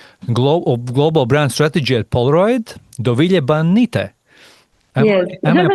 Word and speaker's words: Dovile Banyte: And today we have no one else than the senior manager of global brand strategy at Polaroid, Dovile Banyte. Yes. Am I pronouncing it right?